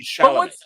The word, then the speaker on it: Chalamet: Timothy Chalamet.